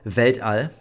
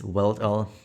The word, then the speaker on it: Weltall: Weltall, that's the German pronunciation. It's Weltall in English pronunciation, I guess.